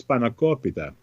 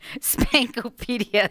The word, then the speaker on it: spanakopita: And he yesterday was asking me how to pronounce spanakopita. Spanakopita. Oh, okay. So and and he said, is it spanakopita? Is it spanakopita? Spankopedia is what he said.